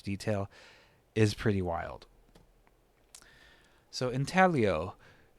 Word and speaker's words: intaglio: So intaglio, you don't pronounce the G.